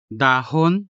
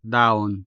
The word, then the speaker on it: dahon: So you can either say dahon or daon, bahin or bain, taghol or tagol.